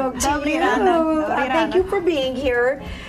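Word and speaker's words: Добрий ранок: Dobrý ranok. Dobrý ranok.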